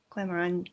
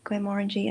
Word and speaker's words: Glenmorangie: Um I think it was Glen Glenmorangie Glen I was Glenmorangie Glenmorangie I never get to pronounce it right. Morangie. It's Morangie.